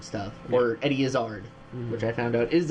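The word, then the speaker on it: Izzard: always talk about whenever we get into Eddie isard stuff or Eddie isard which I found out is actually the real pronunciation of his name okay um but his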